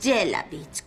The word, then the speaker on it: Jelavich: Mi apellido es Jelavich, con V. Os tenéis que morder el labio inferior.